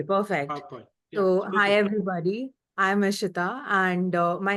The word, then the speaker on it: Ishiyeta: I'm Ishita and my name looks like that because my parents were into numerology when I was born.